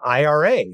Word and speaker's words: IRA: talk about Iris and I'm not sure what the right way to say that is I've always said Ira for individual retirement Arrangement but I do hear people calling them IRAs from time to time so if anybody